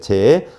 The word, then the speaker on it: 제: 어차 고성체라고 해 놨는데 제 재 사성제를 쓰는 제가음 원래는 체자인데 우리는 불교에서는 재라고 읽어요.